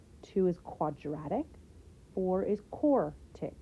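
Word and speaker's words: quartic: is quadratic four is core tick right four rhymes with core don't add any extra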